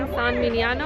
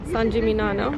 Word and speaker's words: San Gimignano: fun friendly as well I just realized I think I've been saying the name wrong I think I've been saying upon manana and it's fun I'm